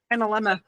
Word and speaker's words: analemma: So the help me out here on the pronunciation. The Analemala and Anamala. Analemma.